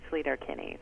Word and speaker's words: Sleater-Kinney: Okay, all right, but officially, and in fact, people in the South often say Sleater-Kinney, so either one is actually correct.